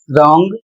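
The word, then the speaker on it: wrong: अगला शब्द है डब्ल्यू आर ओ एन जी। इसे पढ़ा जाएगा रॉन्ग और इसका अर्थ होता है गलत।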